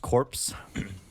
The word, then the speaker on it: Korps: that case let's um it's pronounced corpse here's the ester i